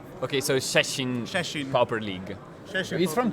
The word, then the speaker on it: Szczecin: the correct pronunciation, and it's something like Szczecin. Szczecin? Yeah, you don't. Okay, you don't read the Z. Okay, so Szczecin Pauper League.